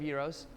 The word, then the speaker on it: gyros: I am a huge fan of gyros. And that's how it's pronounced.